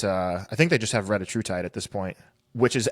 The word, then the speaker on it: retatrutide: think they just have retatrutide at this point, which is actually, side note, now everybody's calling it retatrutide. I guess that's the actual pronunciation of it. It's not retatrutide, it's retatrutide.